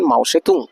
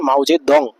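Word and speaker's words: 毛泽东: করতে দাও এটা বলেছেন মাউসেতুং অনেক বই দেখবেন মাউজেদং মাওতুং বা মাউজে দং একই ব্যক্তি উচ্চারণটা অনেক সময় আলাদা বলা হয় তো এই হচ্ছে বন্ধুরা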